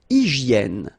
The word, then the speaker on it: hygiène: Une hygiène. So remember we've got this Y here, vowel, and it's pronounced like E, okay? Hygiène. H doesn't exist, H doesn't exist in French, so hygiène.